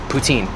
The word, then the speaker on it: poutine: babe they have butene way it's been actually pronounced poutine hi there are you okay can I get